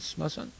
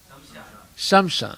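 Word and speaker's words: श्मशान: Is it smasan? Yes. Or, yeah. Smashan. Smasan. Okay. Smashan is in Hindi, it's a Marathi or Sanskrit word. Okay. So how do you say in Hindi? Shamshan. Shamsan, not smasan.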